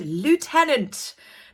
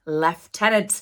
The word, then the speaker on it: lieutenant: much number one is I said Lieutenant that is American phrasing it is actually in the UK pronounced leftenant I upset quite a